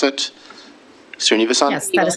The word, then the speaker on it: Srinivasan: that how you pronounce it? Srinivasan?